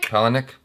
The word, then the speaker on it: Palahniuk: Palahniuk.